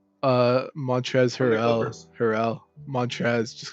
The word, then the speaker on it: Harrell: Hartzell, or how do you pronounce his last name? Montrez Harrell.